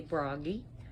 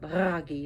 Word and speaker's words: Bragi: Notice how I rolled my R's. All the R's are rolled. You could say Bragi, but Bragi if you can pronounce it that way.